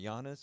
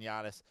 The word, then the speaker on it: Giannis: I don't say his name right, Giannis, or how do you Giannis? Yeah, Giannis.